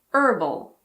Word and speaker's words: herbal: So in American English, these words are herb and herbal.